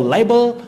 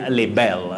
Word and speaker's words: libel: And for libel, we should avoid saying libel. Libel, nowhere in English pronunciation. You say libel.